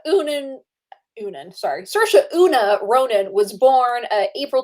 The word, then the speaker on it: Saoirse: i just love her her presence so uh sercia oonan oonan sorry sirsha una ronan was born april 12 1994 in